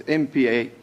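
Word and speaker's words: Maphalala: Well, the H is at the different space then, yeah. Mapalala. Malala. Yeah, it's not HL. It's Maphallal.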